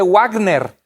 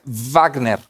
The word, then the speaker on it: Wagner: dice sabes es de wágner decimos con la w pero en alemán la w se pronuncia wagner como un ave de